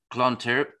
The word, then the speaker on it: Clontarf: you back to uh Clontarf I'm going to be rubbishop pronouncing this now even though there's a d on the end yeah okay there you